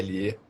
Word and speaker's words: Bridle: E um cara incrível, chamado James, acho que é Bridle, a pronúncia correta, que é Bridle, criou, acho que foi